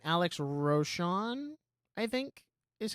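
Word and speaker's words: Rosen: But even um it how do you say his last name? Alex Roshan, I think is how you say his last name.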